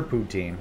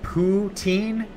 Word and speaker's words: poutine: doesn't sound like food am i saying it right is it poutine poutine i think you guys are messing with me now that is how you say it okay because you know